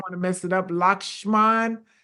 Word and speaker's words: Lakshman: I'm going to let him pronounce his name because I don't want to mess it up. Lakshman. Lakshman.